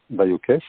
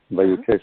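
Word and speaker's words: Vailhauquès: Oui, Écodomaine, Baïokès, donc Écodomaine tout attaché. Baïokès, ça s'écrit VAILHAUQUES. Baïokès.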